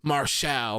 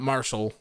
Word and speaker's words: Marshall: Did he do like a whole Mustafa Ali thing where he's like, that's not how you pronounce my name, it's Marshall, not Marshall, or something like that?